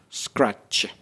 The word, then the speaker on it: scratch: So we got actually two consonant clusters. We got at the beginning the scr and at the end the sh scratch.